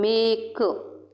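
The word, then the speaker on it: make: है इसको समझ लो साइलेंट सिलेबल वह होता है किसी भी शब्द के अंत में ई होता है साइलेंट से समझ रहे हो ई जैसे एग्जांपल दूं मैं आपको मेक लिख के बता रही हूं मैं मेक हम मेक अब ई वह शब्द जिसके अंत में ई होता है और ई भी क्या रहेगा उसका प्रोनाउंस नहीं होता साइलेंट रहता है ई क्या रहता है साइलेंट मेक मेक पढ़ेंगे तो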